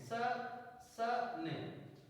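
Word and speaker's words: session: T light next rules जब किसी शब्द में टी या एस के बाद आईओ आए तो आईओ को आ पढ़ते हैं फॉर एगजाम टी आई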